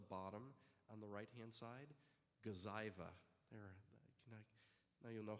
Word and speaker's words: Gazyva: So the one at the bottom on the right-hand side, Gazyva. Now you'll know how to pronounce it.